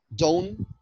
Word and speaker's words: dawn: Dawn? Who knows? Huh? حد يعرف؟ شباب انتوا معايا؟ ايوه معاك. صح الدون معاك يا صاحبي. الفجر and pronounce like this dawn not down, okay؟